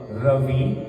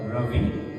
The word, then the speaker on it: Ravi: So R-A-Ra, Ravi, not Ravi, but Ravi. So anybody that has the name Ravi, tell them no, that's not the pronunciation. It is Ravi.